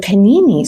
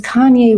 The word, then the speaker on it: Kanye: Canini. So finally I go downstairs and I'm like, who's Mr. Canini? It turns out it was Kanye West, but they didn't know how to pronounce Kanye's.